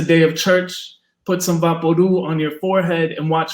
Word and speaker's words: Vaporub: Vaporu is pronounced Vaporu, like loud or chew.